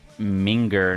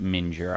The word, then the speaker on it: minger: Pronounced minger, not mure.